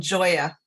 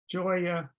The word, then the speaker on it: Joya: And just something to note as you're calling to make appointments, it's Burgess with a hard G and Joya with a soft G. So Joya Burgess.